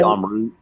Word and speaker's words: Amrut: from India, which is, I believe it is Amrut is how you say it. So you say Amrut, yeah. Amrut, okay, thank you.